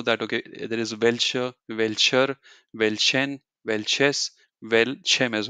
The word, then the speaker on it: welcher: teacher taught me that whenever a noun a word in German ends with R you don't pronounce it you just leave it or you say uh so you know